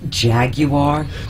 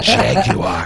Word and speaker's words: Jaguar: Is it Jaguar? That's what they say on TV. Jaguar. I like it when it's pronounced like that.